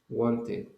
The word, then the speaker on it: wanted: When you have T and D at the end of a verb, you will pronounce it like it.